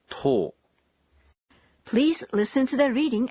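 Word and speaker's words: とお: followed by a tsu 10 is unique it doesn't take to and is pronounced as tol please listen to the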